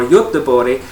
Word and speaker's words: Göteborg: So we're going to head up towards Gothenburg or Göteborg as they pronounce it here in Sweden, and we're visiting a